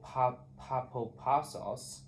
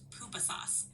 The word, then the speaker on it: pupusas: Clouds are messengers of God, and I dream of papapasos. I don't pupa. I don't know how to pronounce it. Just pupusas. This kind of food or something. You're doing great. The word is pronounced pupusas.